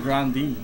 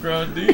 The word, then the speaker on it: Grande: Oh, Ariana Grande. Woo! Ooh wee! No, boy, I've listened to that music all the way home. It's pronounced Grandi. Grandi, Grande, Grande, oh.